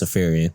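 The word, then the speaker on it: Iriafen: But Kiki Afarian, and I did figure out how to pronounce her last name. It's Afarian.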